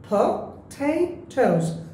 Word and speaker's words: potatoes: সো এখানে পটেটোস কয়টা syllable আছে দেখি, পটেটোস, 3টা পটেটোস। এবং এখানে এই যে মার্কটা এখানে মাঝখানে দেখতে পাচ্ছি, সো এই টেটা আমরা জোরে বলবো potatoes, potatoes, potatoes or potatoes, right, like this.